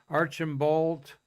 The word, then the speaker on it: Archambault: this gentleman's uh pronunciation proper pronunciation archan bolt i don't know if you pronounce the t he was a one-time